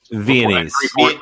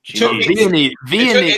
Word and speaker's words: Viennese: Viennese. Vietnamese. Wow. Viennese. Okay. It took me 2 seasons of Dancing with the Stars to say it correctly.